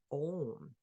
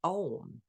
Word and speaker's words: Om: The unique thing about Om is the way we chant it, A, goes and begins deep within the navel and awakens Shakti energy. As we move on in the syllable, we get the U. This correlates with the heart center and vibrates in the chest.